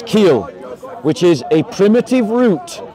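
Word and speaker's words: חיל: What I said was, is that its origin is from chil, right? Which you pronounce keel, which is a primitive root, properly to twist, right?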